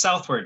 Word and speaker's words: Southward: go which oh oh it's just southward just like the direction it is oh good i thought